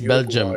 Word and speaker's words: Belgium: belgium uh and portugal it's belgium you cannot pronounce the i according to belgium so you have belgium